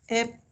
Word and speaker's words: epsilon: I'm just writing it down so that you can pronounce it properly. It is epsilon.